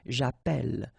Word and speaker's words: j'appelle: in the previous video, if you have double L like that, it will affect the pronunciation of the So actually it will open the sound, and that's the reason why you will get the sound E, okay?